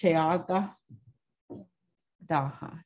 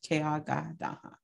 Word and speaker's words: ceyágadaga: And so mint is pronounced Chayaga Daha, Chayaga Daha, Chayaga Daha.